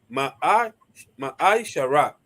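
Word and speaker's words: מעשר: del 8 al 10, que significa décimo en hebreo y se pronuncia Ma'ai Shara.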